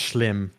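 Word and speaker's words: Schim: s-c-h-i-m is how you spell it and it's pronounced shlim as somebody who is dutch himself oh okay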